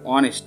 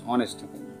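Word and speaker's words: honest: তো mister Sen ইজ অ্যান অনেস্ট ম্যান, তো অনেস্ট অনেস্ট consonant থাকার সত্ত্বেও উচ্চারণটা হচ্ছে ভাওয়েলের মতন, অনেস্ট অ্যান বসাবো।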